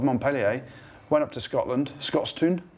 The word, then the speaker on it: Scotstoun: And Montpellier, the big boys of Montpellier, went up to Scotland, Scotstoun, that's how you say it. Scotstoun is how you say it.